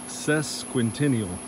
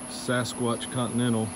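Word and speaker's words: Sesquicentennial: It's sesquentennial, I believe is how it's said. I've been calling it Sasquatch Continental, but that's not correct.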